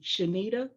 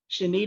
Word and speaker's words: Shanita: look up my name shanita shanita is spelled like anita with an sh in the front of it